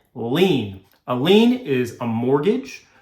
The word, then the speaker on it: lien: lien on the property that is spelled l-i-e-n lean a lien is a